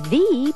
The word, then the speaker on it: the: the problem the number you hear thee before a vowel sound the owner the animal